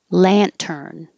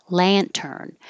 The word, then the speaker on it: lantern: an S and X Lantern a lantern and you can you'll hear people say it without the T Lantern but I think with the t is is more common and I think it's